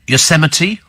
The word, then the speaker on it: Yosemite: Steve, says Philip, some time ago Apple released an operating system called, is it Yosemite or Yosemite? Because there is Yosemite National Park, but it's spelt Yosemite.